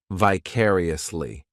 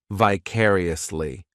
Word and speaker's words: vicariously: This adverb has 5 syllables, and the stress is on that second syllable, vicariously. The third syllable, it's like that letter I just has that E sound, and the fourth syllable has the schwa, vicariously.